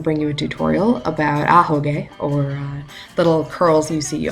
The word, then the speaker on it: Ahoge: Seems pretty obvious now that I've said it about 12,000 times in this video, but it's Ahoge. Queenie likes saying Ahoge.